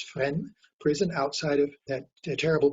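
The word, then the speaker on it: Fresnes: caught went to friend prison it's called it's pronounced friend we say freshness no it's friend prison outside of that terrible prison uh a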